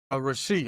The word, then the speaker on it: Rashee: Is it Rasheed or Rashi? Rasheed. I've I've always heard him say Rasheed Rice.